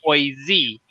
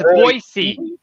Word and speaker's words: Boise: i'm here now and i gotta get used to calling it boise not boy z like how do you pronounce it it's boise boise idaho not boy